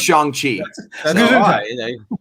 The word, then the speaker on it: Shang-Chi: Because they've earned it's pronounced Shang-Chi.